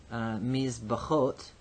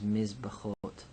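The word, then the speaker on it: מִזְבְּחוֹת: But if we make the plural, mizbachot, ot is our feminine plural ending. So now our tonic syllable is hot, our pretonic syllable is the tzere, and our propretonic syllable is miz.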